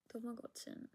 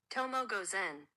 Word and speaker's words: Tomoe Gozen: Tomogotsun. Tomo Gozen.